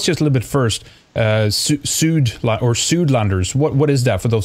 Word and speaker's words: Suidlander: But tell us just a little bit first, Suidlanders, what is that for those who don't know? Well, I'll pronounce it our way, if you don't mind. It's Suidlander.